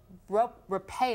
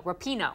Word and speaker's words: Rapinoe: the World title for the US is Megan Rowe repay Oh Rapinoe Rapinoe I'm Josie yeah and no Chad um